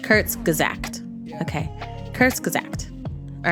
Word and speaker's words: Kurzgesagt: many where are those comments okay yes yes kurtz gazact kurtz gazact okay curse exact all right so now let's